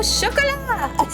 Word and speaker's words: chocolat: Like gateau au chocolat. The T is silent.